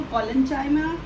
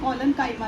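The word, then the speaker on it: collenchyma: वो होते हैं हमारे पैरेंचाइमा, कॉलनचाइमा, देखिए कुछ लोग ना इनको पैरेंकाइमा भी बोलते हैं, कॉलनकाइमा भी बोलते हैं।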